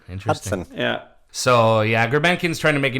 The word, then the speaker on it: Grebenkin: Grebenkin. Yeah, it's interesting because as of like 2 years ago, it was spelled and pronounced Grebionkin, like Greb Yonkin, Yonkin. Yonkin. Now it's Grebenkin, like Grebbenkin.